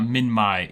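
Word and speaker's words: Minmi: I accept that Min-My is correct. Okay, Min-My is the correct pronunciation.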